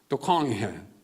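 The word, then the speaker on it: Doukhan: 프랑스 발음은 두캉이에요. 미국에 살기 때문에 두칸 하면 두캉 박사예요.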